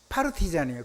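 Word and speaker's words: партизан: 그거를 러시아 말면 파르티잔이에요. 그걸 우리나라 발음면 빨시산이에요.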